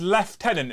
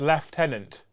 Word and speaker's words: Lieutenant: his left tenant and if you're not sure about how it's pronounced check out games workshops video that they dropped today about pronunciations in the 41st million and they clarified Joe didn't they that it's Lieutenant yes we'll pay for